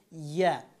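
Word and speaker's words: ي: ইয়া, জিব্বার এই মধ্যখান উপরের তালুর সাথে লাগাতে হবে।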